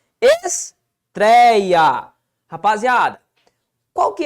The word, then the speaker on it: estreia: Qual que é a sílaba tônica de estreia? Bom, tá bem aqui, ó. É a penúltima sílaba. Então, estou diante de uma paroxítona.